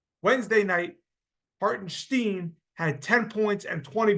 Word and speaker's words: Hartenstein: he referred to him as some guy named hartenstein he said he didn't even pronounce his name right it's hartenstein Stephen A Smith say his name right Wednesday night Haron Steen had 10 points and 20 boards and five